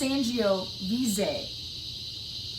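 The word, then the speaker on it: Sangiovese: got a pronouncer here i've been saying sanji and these that's not the way you say it it's sangio visay so that's where you say it and i happen to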